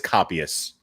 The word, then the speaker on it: copyists: on my nerves okay copyists how to pronounce this here it is compies so it's it so it is copyists kitkat mama got sick